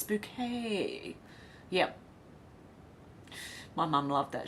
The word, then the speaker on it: Bouquet: Keeping Up Appearances show Mrs bucket no it's no it's bouquet yep my mum loved that show checkered past I do too actually her name is spelled like bucket but she pronounces it bouquet Shannon said saffron Alex